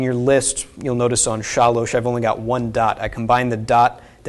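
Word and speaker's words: שָׁלֹשׁ: So this is pronounced shalosh, not shalsh. Okay, if it was shalsh, there would be a shva under here. Okay, so it is shalosh for three.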